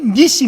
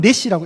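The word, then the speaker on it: נִסִּי: 자, 여호와 니시 할 때 이 니시 뭐냐면 장대인 거예요. 장대. 실제 발음은 넷시라고 읽어야 돼요. 넷시.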